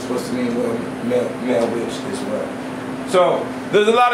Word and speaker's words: Wicca: One answer relies on the roots and development of words, which derives from the Old English Wicca, pronounced Witcha, and meanling male witch